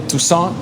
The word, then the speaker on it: Toussaint: hundreds of billions of dollars because of Pierre Toussaint.